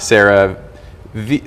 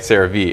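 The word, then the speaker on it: CeraVe: is Cetaphil and then this is not Sarah V Sarah sah V it's not s it's sah oh you said it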